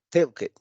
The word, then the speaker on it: talked: Tenemos la terminación ed, que ya lo comentamos, en la regla es ed, pero en pronunciación suena como si fuera una T.